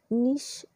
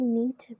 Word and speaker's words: niche: नीश या इसे नीच भी कहते हैं। नीश ये जो प्रोनाउंसिएशन है ये ब्रिटिश लैंग्वेज में किया जाता है और अमेरिकन लैंग्वेज में इसे नीच कहा जाता है।